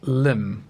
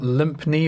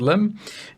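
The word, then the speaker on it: Lympne: which says loom and note the spelling is quite weird it is pronounced limb not limp knee or lime pee or any other concoction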